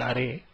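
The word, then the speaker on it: あれ: Please note the last letter E is actually pronounced as A, and so these should be pronounced as kore, sore and are and not as kor, sor and are.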